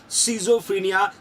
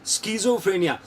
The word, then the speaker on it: schizophrenia: indicating patient सफर विदा शिजोफ्रेनिया स्कज फ्रेनिया कुछ जगह प्रोनाउंस स्कज फ्रेनिया के नाम से होता है कुछ जगह शिजोफ्रेनिया के